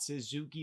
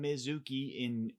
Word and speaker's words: Mizuki: And that fight is between Jacqueline Amorim versus Mizuki, not Suzuki, but Mizuki in Inoue.